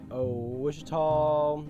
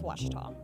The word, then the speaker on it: Ouachita: Some folks think the O is a Q and they say Quashita. Hey, Ouachita. Ouachita. Back in Texas, everybody pronounces it Wichita, but really, it's Washita.